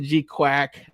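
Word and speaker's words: GQuuuuuuX: Uh they pronounce it G Quack.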